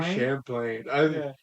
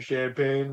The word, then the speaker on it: Champlain: it's a Barry Barry Champlain people would mispronounce it as Barry champagne what are you doing